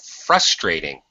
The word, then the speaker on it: frustrating: thing okay frustrating and the syllable stress is on the first syllable frustrating uh frustrating so frustrating